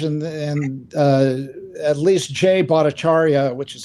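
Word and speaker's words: Jay Bhattacharya: On The Fringe and and uh at least Jay bought acharya which is how it's pronounced was interviewed numerous or more than once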